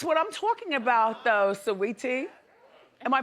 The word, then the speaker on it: Saweetie: Now, see, that's what I'm talking about, though, Saweetie. Am I pronouncing her name correctly? Yeah, Sweetie.